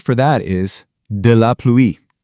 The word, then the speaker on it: pluie: The word for that is de la pluie. Now that ouï sound can be a little tricky. It's kind of like a quick oui. Say it with me. De la pluie.